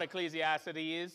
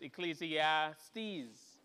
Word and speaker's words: Ecclesiastes: The Book of Ecclesiastes I few people in my life keep pointing out that I'm saying it wrong it's not Ecclesiastes it's Ecclesiastes apparently yeah the the syllable I keep messing it up so um it's